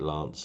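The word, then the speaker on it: LAANC: They call it Lance. It's spelled Lank system in America.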